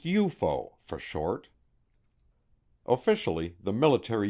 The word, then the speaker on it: UFO: name unidentified flying objects UFO pronounced eupo for short officially the